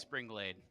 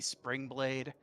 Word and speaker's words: Spring Glade: to call her lady spring blade how about spring blade it is glade but i keep wanting to pronounce it as blade okay yeah um no